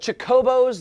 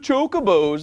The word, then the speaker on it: Chocobos: Because the Chocobos, the world-famous big birds that you ride, were introduced in Final Fantasy II.